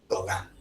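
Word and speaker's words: Gauguin: era terrible muy bien Paul gogan no goin se escribe no y se pronuncia gogan ya Frances la fiesta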